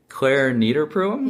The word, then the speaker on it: Clare Niederpruem: We've had Clare Niederpruem.